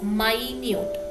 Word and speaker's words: minute: took down the minutes here i pronounced it as of minutes all right so that refers to a summary of what will happened in that particular meaning okay at the same time a word with the same spelling is pronounced as mynute means even the small